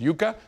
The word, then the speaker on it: Yucca: I used to say Yucca Valley because in Spanish it's a vegetable root and it's called yucca, but here they pronounce it yucca.